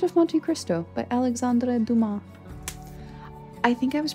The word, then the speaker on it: Dumas: he is French and the French really like not pronouncing all the letters and words um so Duma I think is the appropriate pronunciation this is actually my